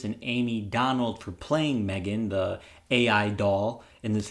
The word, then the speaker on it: M3GAN: review of the film Megan or M3 Gan it's spelled m3gan film is written by